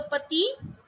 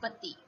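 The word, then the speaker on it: petits: But the pronunciation for both these words remains the same. This is also petit, and in plural also it is petit.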